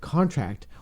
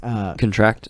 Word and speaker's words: contract: word contract so we you can either pronounce it contract organs like I signed a contract or you can pronounce it like contract contract or it's like hey don't contract STDs and there's perfect reason why